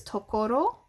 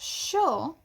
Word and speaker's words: 所: and so this is tokoro like we talked about much earlier in the year like uh uh it can also be pronounced sho um like in g